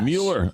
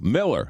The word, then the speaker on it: Mueller: Mueller. Mueller. No, Miller. Miller Furniture. Looks like Mueller, but you pronounce it Miller.